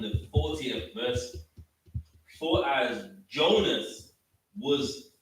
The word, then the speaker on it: Jonas: Christ called about Jonas, because the New Testament is written in Greek. And that's how you pronounce Jonah in Greek, Jonas, you know what I mean?